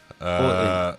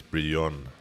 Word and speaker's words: Brion: Is it Brian or Broy? His actual pronunciation is Brion.